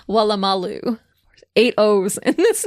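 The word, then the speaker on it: Woolloomooloo: o m o o l o o what Malu wulu mulu but that's not how it's pronounced it's wam Malu eight O's in this name you imagine for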